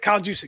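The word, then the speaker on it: Juszczyk: Is it Juic? Yeah, that's right. Kyle Juic.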